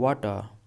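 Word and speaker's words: water: अब यहां पे देखिए जो वाटर यहां पे आर साइलेंट है तो इसे हम पढ़ते हैं वाटर।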